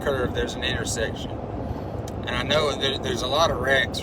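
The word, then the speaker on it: Ino: This little place in between Enterprise, Alabama and Opp, Alabama, there's a little community called I-Know. I-N-O, that's how it's spelled.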